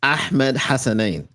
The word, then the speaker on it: Ahmed Hassan: I'm teaching y'all how to pronounce his name today. It's Ahmed Hassan.